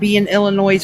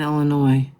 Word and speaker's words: Illinois: You all got to stop pronouncing the S in Illinois.